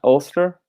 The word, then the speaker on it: Ulster: So looks like you got Ulster, is that how you say it? Am I saying that right? Ulster?